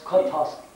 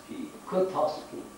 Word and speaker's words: Kotovsky: Just like when Prabhupada met Professor Tchaikovsky, I think, how do you pronounce his name? Kotovsky. Huh? Kotovsky.